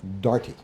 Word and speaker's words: Doherty: The last victim was an Irish woman named Margaret Maggie Doherty, apparently sometimes pronounced Darty.